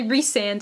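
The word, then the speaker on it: Rhysand: reand or Rand but in the glossery of pronunciation in this book it does say reand and that is how I'm going to say it but you know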